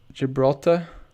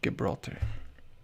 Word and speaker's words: Gibraltar: you should know bro oh it's pronounced gibraltar looks like it should be gibraltar what you think carolina